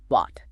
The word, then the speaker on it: bought: It simply makes a pure aw sound. b i aw t bought bought Here. It rhymes perfectly with caught, like catching a ball, or taught, like a teacher.